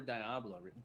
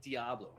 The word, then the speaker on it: Diablo: Obsessing over Diablo. Diablo. Apparently it's not Diablo. So everyone in my chat was like, "You're saying it wrong."